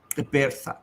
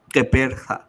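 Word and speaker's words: Gqeberha: It's called Kepertha. So it's called Kepertha. Kepertha. Kepertha. কে বেরহা মানে জির উচ্চারণটা হয় না। No, it's a click. Kepertha.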